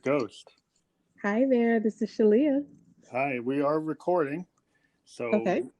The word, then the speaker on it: Shaleyah: right yes I mean you put an extra emphasis on that shot but it's Shalia and what I like to tell people is that it rhymes with Aaliyah and that kind of helps to see with the word association but yes I'm Shalia